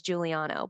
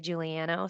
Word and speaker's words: Juliano: No, I you know, I actually think my husband says Juliano, but I like to say Juliano.